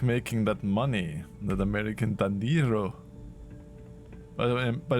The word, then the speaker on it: dinero: It's pronounced dinero.